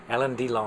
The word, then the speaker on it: Alain Delon: I'm really impressed with the main character played by Alain Delon. There it is. How do you pronounce it? Alain Delon.